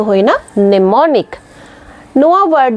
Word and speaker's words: mnemonic: बांग नोआ रे दो एम रेना साइलेंट हुयो कना एम दो उच्चारण के बांग उच्चारण कना इंस्टेंट वर्ड हुयो कना नेमोनिक मने मॉनिक दो बांग